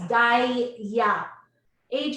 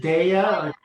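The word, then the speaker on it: Daiya: favorite thing is that i don't know if i'm pronouncing it but it's dai ya aj is that the right pronunciation is the d-a-i-y what is it deya this right so with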